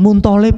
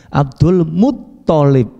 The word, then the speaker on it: Abdul Muttalib: Abdul bukan Mun ya. Kalau misalkan Muntolib bukan. Abdul Muttalib.